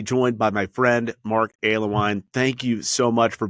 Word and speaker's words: Alewine: pleased to be joined by my friend Mark aloine thank you so much for being part of